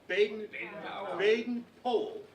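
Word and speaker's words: Baden-Powell: the founder of worldwide scouting who knows Zana baden-baden poll is how he pronounced his name by the way and I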